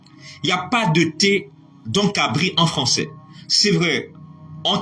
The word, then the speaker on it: cabri: pour dire pour vous dire que le mot cabrine ne s'écrit pas pas ne s'écrit pas avec un